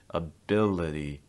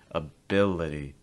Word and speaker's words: ability: this it's very relaxed ability ability again this is going to happen when the stress does not fall on the letter i so now you can